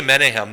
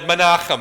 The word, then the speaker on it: Menachem: via a contemporary otherwise if you want to say menehem that's okay with me which kind of rhymes with m m's and i i'm kind of hungry so but menachem i think would be right and then pika not